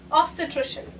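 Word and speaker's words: obstetrician: This is how you pronounce it. Ostitrician.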